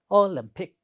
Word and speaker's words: Olympic: The next word is Olympic, and if you look at this word, it has also 3 syllables, and the second syllable is stressed. Olympic.